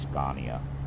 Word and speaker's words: Scania: if um maybe Scania it's Scania actually that's how they pronounce it um I think